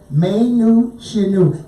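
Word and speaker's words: Mae Nous Shinu: Folks, it's spelled M-A-E, May, New, N-O-U-S. It sounds like Latin. Shinu, and I know that sounds Japan. S-H-I-N-U. May Nu Shinu.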